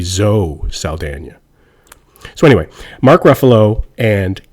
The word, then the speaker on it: Zoe Saldana: zoe saldana and so zoe's name tricks me up because she's got an accent on the n but she doesn't have an accent on the e so it should really be zoe saldana so anyway mark ruffalo